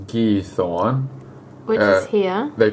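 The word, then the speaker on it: Giethoorn: up and check out I think it's pronounced gee Thorn which is here they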